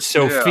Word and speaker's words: SOFR: I got to ask you, George, is there an appropriate pronunciation of the acronym SOFR? I've gone SOFR. SOFR, okay. I've heard Sophie, even though, that's more of a naming convention than actually true to the acronym.